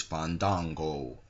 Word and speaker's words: Fandango: championship chris jericho versus fandango i think it's pronounced that you have to let the a's breathe apparently chris jericho and dolph